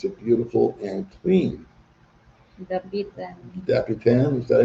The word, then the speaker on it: Dapitan: Dapitan, is that how you say it?